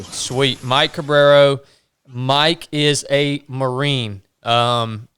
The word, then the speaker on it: Cabrero: Um Cabrero. So, C A B R E R O. Sweet. Mike Cabrero.